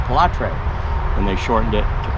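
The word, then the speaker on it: Pilâtre: His first name is Pilatre, that's how you say it, Pilatre.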